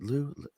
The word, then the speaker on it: Liu: Am I pronouncing it right? Liue. Is it Liu? Mhm. Fix me. It's Liu, Oh, right? yeah, Lou is good.